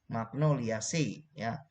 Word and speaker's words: Magnoliaceae: famili magnoliaceae Ose bacanya tulisannya magnoliaceae dibaca magnoliaceae magnolya si genusnya michelia spesiesnya michelia